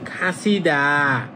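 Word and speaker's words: 갇히다: খাত হিদা দা কিন্তু এটা একসাথে উচ্চারিত হবে খাসিদা খাসিদা মানে আটকে যাওয়া এইযে তখন উচ্চারণ করবেন সিদা এইযেটা হয়ে যাবে তখন হবে খাসিদা মানে আটকে যাওয়া।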